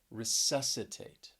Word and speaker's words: resuscitate: second syllable obscene then we have resuscitate resuscitate stress is on that second syllable and this is a four syllable word resuscitate and if you well